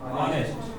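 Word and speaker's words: honest: हैं आवर, इसको पढ़ेंगे ऑनेस्ट, इसको पढ़ेंगे ऑनरेस्ट। तो पीछे एक साइलेंट है तो आ की ही आवाज आ रही है, यानी स्वर की ही आवाज आ रही है, इसलिए एन लगेगा।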